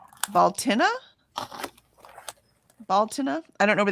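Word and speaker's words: Bealtaine: Annette says we pronounce it Baltina.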